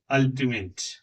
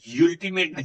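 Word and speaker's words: ultimate: फिर ओ, लेकिन यू नहीं, इसको क्या पढ़ते हैं, अल्टीमेट। छोटा आ पढ़ा, अल्टीमेट, यू नहीं, यूल्टीमेट नहीं, अल्टीमेट।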